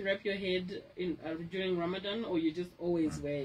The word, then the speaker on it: Ramadan: Okay, so it's pronounced as Ramadan.